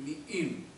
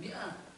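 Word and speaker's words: مئين: Rasulullah, kanu yaqumuna bil mi'in. Mereka melaksanakan salat tarawih bacanya sampai sekian ratus ayat, bukan 100. Mi'in bukan mi'ah. Mi'atun mi'atani mi'at, mi'in.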